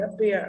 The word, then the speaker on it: appear: Appear, âm ơ ở đầu không nhận trọng âm, giống ago, about, đúng không? Thì đây appear, appear nhận trọng âm.